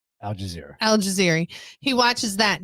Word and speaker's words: Al Jazeera: But when we were talking about this, because my dad watches the Al Shabazz news or whatever it is. Al Jazeera. Thank you. I say it wrong every time.